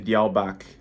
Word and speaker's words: Diawl Bach: originated in the UK called the dial-back that's my best pronunciation of it anyway uh it's a Welsh